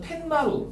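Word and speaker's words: 툇마루: 퇴 플러스 마루야 원래. 퇴 플러스 마루. 근데 발음하면 텐마루. 니은이 덧나잖아요.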